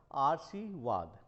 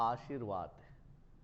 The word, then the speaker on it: आशीर्वाद: इसका मुख्य कारण होगा आर्शीवाद आर्शीवाद जबकि उच्चारण क्या होता है सुधर आशीर्वाद आशीर्वाद है यहां पर यह